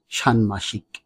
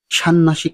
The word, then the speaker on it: ষাণ্মাষিক: মূর্ধন্য সরাসরি এবং ক যার শুদ্ধ উচ্চারণ হবে সানমাসিক সান্নাসিক নয় শুদ্ধ উচ্চারণ সান্মাসিক এখন প্রশ্ন হতে পারে